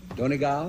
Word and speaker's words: Donegal: Donegal? Donegal.